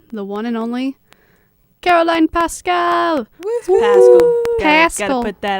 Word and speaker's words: Paschal: This week, we have the one and only Carolyne Paschal. Woohoo! Paschal. Gotta put that out there. It's okay. It's spelled weird.